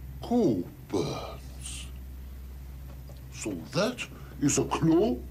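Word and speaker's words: Cockburn's: No, we don't pronounce the C-K. Coburn's. So that is a clue? No, that's a clock. So? Sock. Coburn's Special Reserve.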